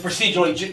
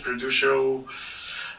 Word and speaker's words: procedural: A fixed, well, you can produce, or do you pronounce it in English, producial? Procedural.